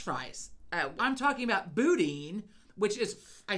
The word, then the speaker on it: boudin: Boudin, not Bowden, as I pronounce it.